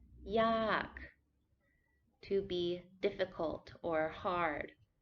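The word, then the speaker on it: ยาก: cheap to be difficult yak falling tone yak to be difficult or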